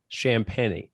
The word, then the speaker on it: Champagnie: name here julian champagne champagne okay so like shams but then penny yes there we go there we go we're calling them champagne for the show yeah